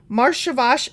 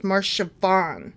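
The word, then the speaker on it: Marcheshvan: to include that um marshavash is sometimes shortened to just siobhan um i mispronounced the first one it's marshavan okay so it's sometimes shortened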